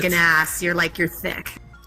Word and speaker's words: THICC: thick with two C's. THICC. Yeah, that's like You have to say it like thick.